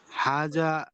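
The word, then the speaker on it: هذا: জিহ্বার যে আগাটা আছে, এই আগাটা একটু মানে একটু আপনি জিহ্বাটা উপরের দাঁতের সাথে লাগাবেন।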